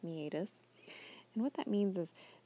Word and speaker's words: meatus: know it looks like meatus but generally it's pronounced meatus and what that means is there's a actually